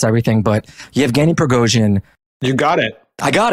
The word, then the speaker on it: Yevgeny Prigozhin: Let's start back from the beginning, though, and I will probably mispronounce this name like I mispronounce everything, but Yevgeny Prigozhin.